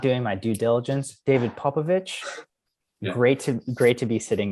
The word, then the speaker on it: Popovici: for everyone, it's pronounced Popovici, like Popovic. Okay. It's just like it would have a CH at the end, Gotcha.